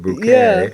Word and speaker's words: Bucket: M Up Appearances right she's bucket but she pronounces it bouet so I think every